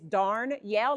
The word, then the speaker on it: Darnyelle: Now, some of y'all wasn't sure if you pronounce the R or not, it is darn yell like darn and then start to yell, but you'll never forget my name after today.